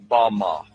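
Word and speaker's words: בָּמָה: which Satan fell is Strong's Hebrew word 116 pronounced Bama Bama is most commonly used to refer to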